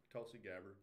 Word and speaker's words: Tulsi Gabbard: Tulsi Gabbard.